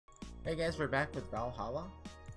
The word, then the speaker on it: VA-11 HALL-A: Hey guys, we're back with Valhalla. It's okay to be pronouncing it like that, right? I don't have to say Va-11 Paul A Cyberpunk Bartender Action, right?